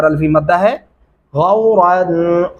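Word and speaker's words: غَوْرًا: غورا، غو اور آگے را کو موٹا اور پر کر کے پڑھیں گے.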